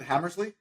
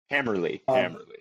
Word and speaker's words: Hammerly: And how do I pronounce it? Hammersley? Hammerly. And it sounds like a good sculptural name, Hammerly.